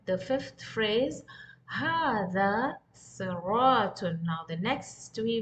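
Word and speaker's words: هٰذا: So how are you going to pronounce as هذا, as if there is an alif here? In the script, it's not written. As you can see in the standard Arabic, the alif is not there after ha. But still we pronounce as هذا. We don't say هذا. It's هذا.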